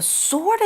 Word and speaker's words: sword: 文章呢说到 A stone with a sword in it appears. A stone with a sword in it 代表是有一颗石头，里面有剑。它剑这个字呢要注意它的发音哦，它拼作 S-W-O-R-D，可是 W 不发音，我们念作 sword.